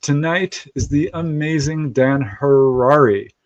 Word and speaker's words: Harary: If you haven't figured it out, our guest tonight is the amazing Dan Harrari. Rhymes with Ferrari. So, that's how you can remember it.